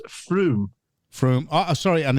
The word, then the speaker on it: Frome: Somerset and Frome, Conservative majority 19,213. Excuse me, landlord. I think, if I'm correct, it may be pronounced Froome.